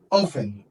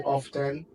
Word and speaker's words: often: very easy okay all right so we have ofen ofen like is silent okay often of say so you can hear people say often but it doesn't matter guys but the best